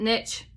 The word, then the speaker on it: niche: ni i h e i pronounce it Niche you can I don't know how everybody else does so basically Niche means